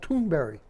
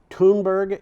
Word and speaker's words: Thunberg: I heard her called Thunberry. I actually went to find out how this is pronounced Yeah. in Sweden. I don't think I could duplicate it. Greta sounds more like Greta. Okay. Greta. Yeah. So it's like 4 syllables. Thunberg is Thunberg.